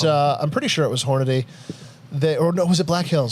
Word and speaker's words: Hornady: How do you guys pronounce that company that makes Hornady. that? Hornady. How do you say it? Hornady. Hornady. Hornady. Yeah. Some people say Hornaday. Some people say Hornady.